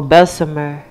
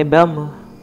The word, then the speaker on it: Bessemer: Well, Bessemer is the correct way to say it. But we say Bessemer, not too far from Birmingham, Alabama.